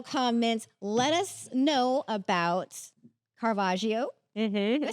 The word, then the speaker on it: Caravaggio: let us know about carvaggio I say that right Caravaggio I want to say carvaggio too like there's an extra syllable kagio let us know